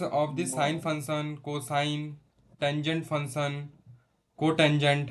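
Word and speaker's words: tangent: pronounce it right but this tan इ full form is टेंजेंट okay this is टेंजेंट function not tan यस यस cosec this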